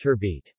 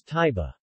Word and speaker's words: turbot: In the US, UK and English-speaking Canada, turbot is pronounced turbit. The French pronunciation of turbot is taiba.